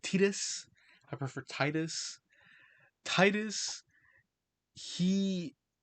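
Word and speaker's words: Tidus: They I'm going to say Titus because that's how I pronounced them playing through and didn't find out later till didn't find out till way later that it's pronounced Tetus.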